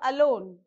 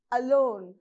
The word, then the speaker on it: alone: the words you have alone alone so a is a weak prefix so you are not supposed to use stress on that so you have to